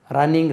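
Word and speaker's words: running: Double N உச்சரிக்கக்கூடாது. எழுதும்போது double N எழுதலாம், உச்சரிக்கும் போது ரன்னிங் ரேஸ்.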